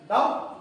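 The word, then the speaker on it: doubt: आपका एल आ जाएगा डाउट डाउट में है तो आपका बी साइलेंट लेटर होता है।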